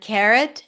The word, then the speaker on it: carrot: Remember that carrot and arrow could be pronounced with the as in cat. It's not a mistake. Carrot and arrow, but it's more of the British English pronunciation.